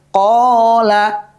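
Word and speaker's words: قال: Jadi huruf alif menjadi tanda panjang ketika dia didahului oleh huruf berharakat fathah. Sebagai contoh misalkan ada kalimat qala.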